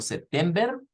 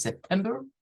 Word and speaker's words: September: September, que vendría siendo sep, la primera sílaba, tem, la segunda, y ver, no es ver, ojo, no lo vamos a decir como September, es September, es con schwa.